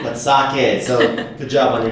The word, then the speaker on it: sake: And for listeners, you may have noticed Brittanie has been to Japan before, and she knows how to pronounce sake. Not sake, but sake.